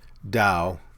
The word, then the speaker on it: Dao: the word god with dao that's pronounced with a d uh force or whatever